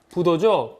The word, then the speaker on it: 부도: 아니 불자는 부로도 발음이 되는데요. 그 부로 발음될 때는 뒤에 바로 붙는 자음이 디귿이나 지읒일 때 부로 발음이 됩니다. 예를 들어서 자, 헤아릴 도자 앞에 물숫자가 들어가서 건널 도자 부도죠.